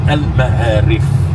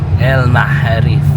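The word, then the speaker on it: المعاريف: And the name of that bus is Al Ma'arif. El Maharif. Al Ma'arif, not Ha. If you said Ha, it's another meaning.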